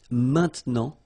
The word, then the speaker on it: maintenant: Normally we tend not to pronounce this okay? So we get this maintenant, maintenant, okay?